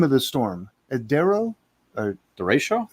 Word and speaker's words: Derecho: Pronounce the name of the storm. Adero? Or Derecho? Derecho. Derecho.